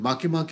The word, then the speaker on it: Makemake: And Makemake is a Polynesian name. And that is how it is pronounced.